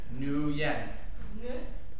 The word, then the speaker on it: Nguyen: Nguyen.